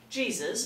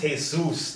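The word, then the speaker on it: Jesús: oh hey just look at Jesus over there Jesus Mexican gang banger flannel-wearing bookkeeper late 20s shifts uncomfortably in his wheelchair it's pronounced hey-zeus not Jesus he's a king Mexican in a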